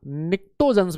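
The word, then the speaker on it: pnictogen: अरे भाई P silent होता है। क्या होता है सर? पी साइलेंट होता है। यस यस यस, अरे बोलो पी क्या होता है बेटा? साइलेंट। इसी वजह से निक्टोजन।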